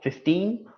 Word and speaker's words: fifteen: I'll just tell you so 15 the stress is on the second of course 50 the stress is on the first syllable 15 second fifty first